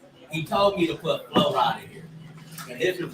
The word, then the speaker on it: Flo Rida: Yeah, this is like it's we say Flo Rida, but we all know it's Florida put together.